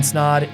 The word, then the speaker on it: Snod: My name is Snod. It rhymes with Odd, and we'll see you in the next episode.